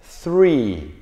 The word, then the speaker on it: three: sobre esta pronunciación, es 3. ¿Ok? 3. Saben que esta TH la pronunciamos como en español para nosotros es una Z. Ponemos digamos, la lengua en la posición de la Z.